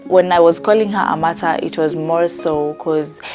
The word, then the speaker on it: Amata: Yeah, Amata. The pronunciation is Amata, and I like it.